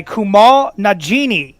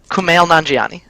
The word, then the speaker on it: Kumail Nanjiani: your next question and i apologize for the pronunciation already what is the name of the character voiced by kumar najini in men in black international kumail nanjiani nanjiani sorry i missed the yeah i didn't